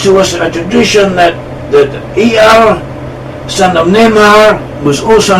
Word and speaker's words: Jair: At all events, it is pronounced as Yair, and we find this person mentioned in the Bible.